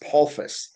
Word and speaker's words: Polsfuss: I grew up with it being pronounced Polfuss, but I've kind of switched because it makes it easier for situations like this. Either way is fine.